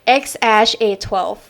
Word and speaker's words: X Æ A-12: And well, I actually have found like a place where he said like how to pronounce his son's name, and he said it's XAsh A12.